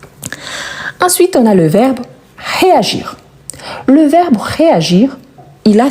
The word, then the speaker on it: réagir: Ici, on prononce bien le r, réagir.